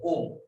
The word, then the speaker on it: ओम: और निर्गुण उपासना में मुख्यतः ओम साधना। ये जो 7 नंबर में ओम साधना के बारे में बताया। और इसमें ओम में कल हमने इंगित दिया था कि ओम में 3 है, ओ उ म।